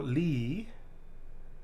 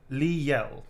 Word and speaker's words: Liel: This is for Lee. Sorry, that's wrong. Liel.